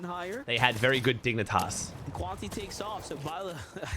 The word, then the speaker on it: Dignitas: How do you pronounce dignitaras? Dignitas, bro.